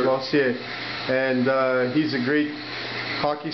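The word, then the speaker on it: Losier: How do you pronounce your name? Lossier? Lossier, yeah. Lossier? L-O-S-I-E-R. Did I say it right? Yes, sir. Lossier.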